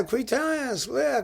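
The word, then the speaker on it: Cluytens: let me just yeah i've been saying cuitons something like that quite as and he says to me yes click that's the way we do it that's all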